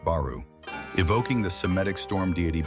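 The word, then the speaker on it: 原: Some place names in Kyushu are written har but pronounced baru evoking the cemetic storm deity Bale and the Mesopotamian sea god Deeon names that sound like dragon.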